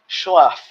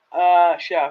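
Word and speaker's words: Scheff: I cannot do Jason Schleff. Chef? Yeah, it's not spelled chef. It's spelled. Oh, goodness, how is it spelled? It is spelled. Chef.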